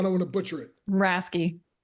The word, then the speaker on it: Raske: And how would you pronounce that last name? I don't want to butcher it. Rasky. Raske.